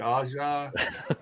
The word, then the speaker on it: Aja: David Aja is the big dog. Is that right? Am I saying it right? Yeah, you're saying it right.